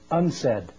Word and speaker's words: UNCED: for environment and development it is pronounced unsaid and perhaps indicating the